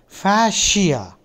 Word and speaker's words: fascia: J Shri the word we are learning is fasia the pronunciation is fasia uh probably if it had been spelled f